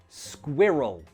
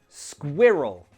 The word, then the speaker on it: squirrel: Pronunciation. I know this one is quite difficult. Squirrel. Squirrel.